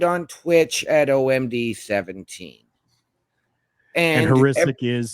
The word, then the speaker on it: Hrycyk: And Heuristic is spelled HRYCYK.